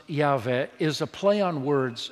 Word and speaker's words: Yahweh: In Hebrew, it would be pronounced Yahweh, is a play on words of God's sacred name, I Am.